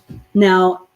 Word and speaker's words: know: the word no now this spelling of the word no k-n-o-w means to have knowledge about something or to know something in your mind but if i say no you cannot go outside that no is spelled in o okay meaning the opposite of yes but if i say